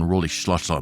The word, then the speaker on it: Rolihlahla: And Nelson Mandela's full name is Nelson Rolihlahla Mandela, or even pronounced more closely in in the tribe of his people would be Nelson Rolihlahla Mandela. It means pulling the branch of a tree. That's Rolihlahla.